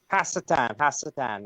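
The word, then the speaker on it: השטן: Hasatan. That's how we pronounce it in Hebrew.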